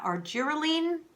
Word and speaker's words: Argireline: Um, in this episode, I'm going to be talking to you about our giralene. That's how it's pronounced.